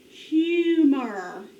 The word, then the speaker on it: humor: Long U, that means you divide after the vowel. Accents on that first syllable.